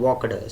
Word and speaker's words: walked: It should be walked. Some ed ending words are pronounced with t, some are pronounced with d, and some are pronounced with eat. And one should know how to pronounce them correctly.